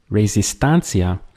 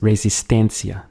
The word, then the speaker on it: resistencia: Again, ending in ance, but instead of being resistancia, it's resistencia. The same thing where instead of the A, it goes to an E.